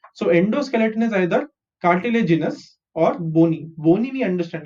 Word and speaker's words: cartilaginous: CR is car, TI is T, LA is lay, GI is G, NOUS is nus. Cartilaginous.